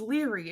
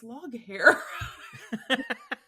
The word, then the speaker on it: Leary: He looks at it and goes, "You idiots, it's Leary. The name is Leary." And we're like, "No, it's Loghair."